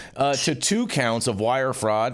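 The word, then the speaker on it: Nguyen: to point out that ngu y n is pronounced thank you J thank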